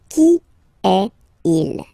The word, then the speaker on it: Qui est-il: Qui est il? And then you make the liaison.